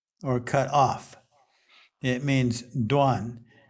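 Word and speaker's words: 断: It means duan. It's pronounced duan.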